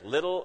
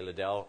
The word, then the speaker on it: Liddell: story about Eric Liddell do you pronounce Eric little or Liddell how many say Liddell how many say little okay Liddell wins Eric was a Scottish